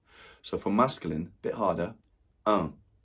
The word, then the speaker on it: un: So, for masculine, bit harder, un. un in the nose there, quite a nasal sound.